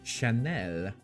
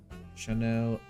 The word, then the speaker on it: Chanel: took care of so Chanel you need to pronounce it French otherwise it doesn't make any sense Chanel uh it's what One